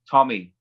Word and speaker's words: Tomi: actually pronounce your name is it tomi or tommy tommy tommy that's so relieving it's pronounced the way americans spell t-o-n-y it's just spelled differently i'm sorry t o